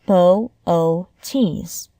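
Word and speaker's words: Boötes: Laurie glancing at the sky is to pronounce its name correctly Bootes is pronounced bow o tees and the next thing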